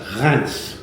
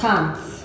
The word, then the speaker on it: Reims: It's Reims. Oh, Reims. Reims. Reims. Why they pronounce it with an N, I don't know, but they do.